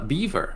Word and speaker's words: Belvoir: Welcome, Lord's Beaver. I've been told is the pronunciation. Oh, Beaver. Okay, gotcha. Beaver, yeah. I see. Blame the Normans.